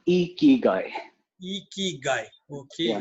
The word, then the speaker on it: ikigai: to know what is the correct way to pronounce this term spelled as i-k-i-g-a-i a key guy it's called e key guy key guy okay yeah not not icky guy it's icky what would it be well it